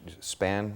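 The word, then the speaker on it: Spahn: Span, am I pronouncing it? Spawn Ranch.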